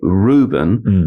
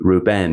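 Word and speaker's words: Rubén: said we would say Reuben but then in Spanish it would be Reuben. You know it's like the emphasis is on the second.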